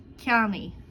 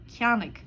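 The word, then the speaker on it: ceannaigh: Verbs that end in a-igh or igh will sound like e. Mar hampla, ceannaí, ceannaí. This means by. In other dialects, you'll hear it pronounced ceannaig, críochnaí, críochnaí.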